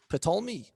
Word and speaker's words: Ptolemy: Ptolemy. Ptolmey.